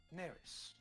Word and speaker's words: Neris: flowers i am you are hello i am neris what uh what business have you here nerus how do i spell that n-e-r-i-s oh nailed it sorry what can